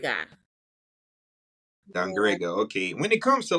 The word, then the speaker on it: Dangriga: Man, can you pronounce the name of the town again? Dangriga. Yeah. Dangrega.